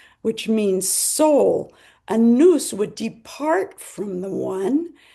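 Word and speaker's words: nous: He felt that a noose which is spelled n o u s which means soul a noose would depart from the one and would then later be able to return to that one.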